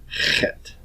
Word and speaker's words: Chet: Chet. This is a guttural consonant. It is produced in the back of the throat.